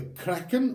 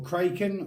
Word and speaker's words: Kraken: is then through is called the Kraken or Kraken or crack in depending on how you want to pronounce it and call it basically